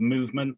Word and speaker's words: MVMNT: i'm miles from a company called movement that's spelled mvmnt we think vowels are